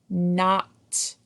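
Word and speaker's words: knot: N, a, t, not. You'll notice the silent K in the word not.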